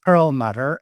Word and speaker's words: Perlmutter: I'm saying that in the German way actually your last name. How do you say it in the English way? In the English way it would be pearl mutter and in French it becomes so it depends on which language and I personally am originally Hungarian.